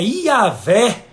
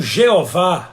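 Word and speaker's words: Yahweh: revelar e o senhor o seu próprio nome é yaveh aquele que é o auto-existente e não jeová a melhor pronúncia para o nome de deus ainda que não seja talvez aí a pronúncia correta mas segundo os estudiosos os biblistas é o que mais se aproxima do tetragrama né e a fé seria essa melhor pronúncia do tetragrama hebraico né significa irmãos aquele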